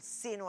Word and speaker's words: sino: la tribu fíjense que cuando nosotros pronunciamos la conjunción la palabra si no nos damos cuenta que es una palabra llana que lleva la fuerza de la pronunciación en la penúltima sílaba sin embargo vamos a